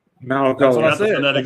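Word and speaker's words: Mauigoa: And by the way, I got the proper pronunciation too, believe it or not. Malagoa. Malagoa.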